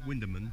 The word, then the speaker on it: Wymondham: It's spelt Wymondham, but it's Wymondham.